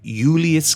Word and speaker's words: Julius: Moreover, J's were pronounced as Y's. So to pronounce his name the way he would have said it, you wouldn't have called him Julius Caesar, you would have called him Julius Caesar.